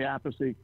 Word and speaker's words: Appice: too, because they can't, the second name's confusing because we pronounce it differently. So in Italian, it's but Appice. it's Carmine. How do you pronounce it in Italian? Well, I say Appice, Carmine's a piece, and my other brother's a peach.